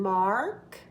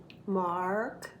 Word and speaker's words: Mark: In America, we need to hear the R. So Mark is his name. Mark. I'm holding a piece of candy when I get to the R. Mark.